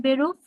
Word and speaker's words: Beruf: আপনাকে আমি শোনাই, Beruf, ঠিক আছে?